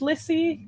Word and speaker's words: Lissy: Is it pronounced Lissy?